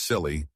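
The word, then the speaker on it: Scilly: The isisle of silly, pronounced silly, and Netherlands are not sure if they have been at war for 300 years.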